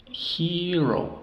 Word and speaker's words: hero: Hero, héroe, lo mismo, sílabas abiertas las dos. He, o, hero, hero.